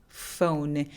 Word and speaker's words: phone: phone 아니고 phone, phone. 요 모음이 O 소리가 아니고요. O, O. 그래서 우까지 입술을 살짝 내밀어 주시면 좋아요.